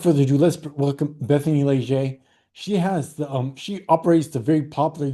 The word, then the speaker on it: Leger: Welcome to Bethany Leger, who I thought was Lager, but it's not that.